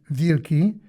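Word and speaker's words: wilki: W I l ki, pronounced vili, means wolf, so Pritbar could hardly be insulted for being so called.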